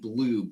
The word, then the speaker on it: bloob: It's glue and bloob. With a B at the end. Like B-L-O-O-B. It's blob, but bloob because it rhymes. Glue and bloob. It's got an ooh sound.